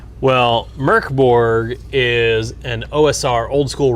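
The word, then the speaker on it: Mörk Borg: Merkborg and it is pronounced Merkborg.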